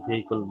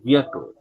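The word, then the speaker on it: vehicle: এটাকে আমরা ভেহিকল বলবো না, এটা উচ্চারণ ভেহিকল না, এটার উচ্চারণ হচ্ছে ভিয়াকল, ভিয়াকল, ভিয়াকল। সবাই একটু প্র্যাকটিস করুন, ভিয়াকল।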